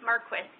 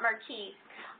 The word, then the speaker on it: Marquis: Marquis, and it is indeed pronounced Marquis and not Marquee, uh, is a collection of who's guides from across the country and across different topics.